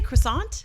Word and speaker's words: croissant: like Russell Crowe song it's a French word I'm gonna pronounce it the French Way because it's French word I feel like I'm